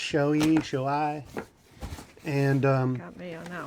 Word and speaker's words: Shoei: I believe it's pronounced Shoei.